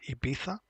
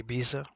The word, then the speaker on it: Ibiza: Um and yes, this is how you pronounce it. IA. Uh you can say IA, no worries.